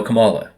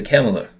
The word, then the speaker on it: Kamala: the word differently like say you're from a Spanish speaking country and you say you know Cala because that's how you uh talk or someone from Britain would say camela you know oh yes that's